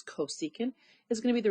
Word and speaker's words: cosecant: so I know that CSC pronounced as cosecant is going to be